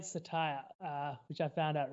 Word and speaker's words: Cettire: spoke to the management i was saying setai apparently satire uh which i found